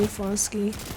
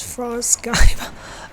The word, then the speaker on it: Frost Sky: It's frost Skype. Oh, I see. Okay. Sorry, I guess mostly I've been pronouncing it wrong. It's frost sky.